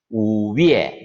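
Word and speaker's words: 五月: 자, 우위에 자, 중국에서 숫자 우리가 1에서 10까지 배웠잖아요. 5는 우, 삼성으로 우, 월을 중국어로는 이렇게 표기를 해요. 위에라고 읽죠. 우위에.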